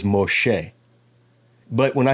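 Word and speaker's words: משה: here about Moses well that's not how you say his name his name in Hebrew is Moshe but when I say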